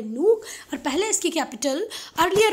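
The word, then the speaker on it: Nuuk: Nook. ये न्यूक लिखा है पर इसका प्रोनाउंसिएशन कैसे होगा? नूक.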